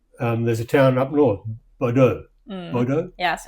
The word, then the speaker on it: Bodø: That's there's a town up north, Bodø. Bodø? Yes, it's in the name of Bodø. Bodø. Yes, and we pronounce it as Ø.